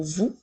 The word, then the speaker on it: vous: le mot vous alors nous avons le son qui s'écrit avec la lettre V et comme dans le mot nous avons encore le son ou avec trois lettres qui s'écrit o u s encore une fois la lettre S est une lettre muette on peut utiliser le